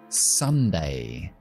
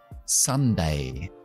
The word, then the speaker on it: Sunday: Y el último día de la semana es Sunday, el día del sol. Sun es sol, que se pronuncia igual que hijo, con el símbolo que yo llamo la tienda de campaña.